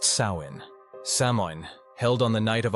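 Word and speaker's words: Samhain: years to the Celtic Festival of Sam Hoin pronounced sa samin held on the night of October 31st signaled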